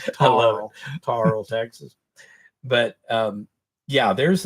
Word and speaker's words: Terrell: If you're in Texas, you can pronounce it Tarl, but you got to spell it with an E. Tarl, Texas.